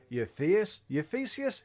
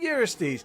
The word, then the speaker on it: Eurystheus: and King Bumhead himself, King Euphesius? King Eurystheus. We got the name wrong in episode 1, but I tell you what, he got it right every single time.